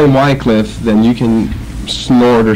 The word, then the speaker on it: Wycliffe: out a little further it seems to me that Wycliffe is probably the more correct of the pronunciations so if I may